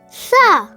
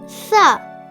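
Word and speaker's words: ث: The fourth Arabic alphabet is Sa. Hi, my name is Sa. Sa. Sa. Sa. You can spell Sa in English as S-A-A. Sa. It sounds like the soft sound of the English alphabet C.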